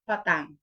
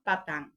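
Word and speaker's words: petang: imong Isulat sa text Salamat pitang no p e t a n g pero ang ilahang pagpronounce an Salamat patang no patang Okay muna good afternoon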